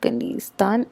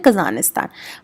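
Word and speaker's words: Kazanistan: A hypothetical state of I have the name wrong, it's not Kanistan, it's कानिस्तान, ठीक है, कजानिस्तान, ठीक है। Sound like कजाकिस्तान बट नाम के कजानिस्तान है, और ये क्या है,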